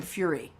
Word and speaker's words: Fure: ahead of time but it's actually fury so as in uh anger and rage because you mispronounced my